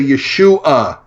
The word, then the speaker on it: Yeshu: Well, in the Aramaic of that day, the ion that's on the end of a word was dropped, and even if it was spelled with no vowels, Yud, Shin, Vav, Ayin, it would have been pronounced Yeshu.